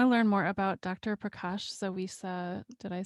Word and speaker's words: Prakash-Zawisza: Prakash-Zawisza, did I say it right?